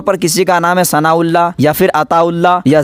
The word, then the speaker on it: ثناء اللہ: 1 عدد شمار ہوگا۔ اس کا تلفظ اصل میں سا نون الف الف لام لام ہا ہے، یعنی ثناء اللہ الف میں پیش ہے، تو اسی لیے یہ حمزہ نہیں ہے، یہ الف کا قائم مقام ہے، تو اس کے